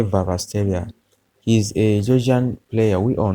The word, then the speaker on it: Kvaratskhelia: pronounce this name but make that K to be silent and say vasia he's a player we